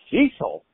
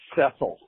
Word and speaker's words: Cecil: He goes, Cecil? She says, it's pronounced Cecil.